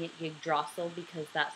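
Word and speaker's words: Yggdrasil: g d r a s i l I'm pronouncing it yrel because that's how I want to its branches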